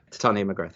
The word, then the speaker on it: Titania McGrath: Is that how you pronounce it? That's right, yeah. Titania McGrath, yeah.